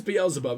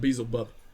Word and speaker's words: Beelzebub: do you mean ugh which is the right one it is beelzebub isn't it not beazlebub beezlebub sound oh yeah bl's about there we go i just said it wrong the first time i'm a silly boy